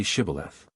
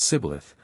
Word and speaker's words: Shibboleth: let none pass who could not say Shibboleth. The Ephraimites, being of a different tribe, could not frame to pronounce the word right, but called it Sibboleth, which proved them enemies and cost them their lives.